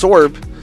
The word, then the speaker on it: Swurb: And then Swurb pronounced Sorb has changed to Ketchup Cardi 67.